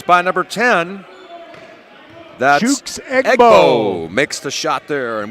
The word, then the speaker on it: Egbo: name sounds like an annual SEC rivalry game between Ole Miss and Mississippi State. Yeah, the Egg Bowl.